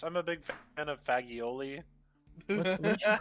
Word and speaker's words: fagioli: I'm a big fan of fagioli. What'd you call me? Careful, please be careful. Isn't that Oliver? It's fagioli. Is it? Yes, it's pronounced fagioli.